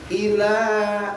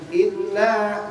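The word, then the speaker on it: إله: sama dengan yang ketiga ila bukan illa tapi ilahinas haknya ilahi hak-nya dari tenggorokan ke bawah biar terlihat haknya nya besar ilahun lailahaillallahu itu hak besar dulu itu ilahi ila langsung h-nya dari bawah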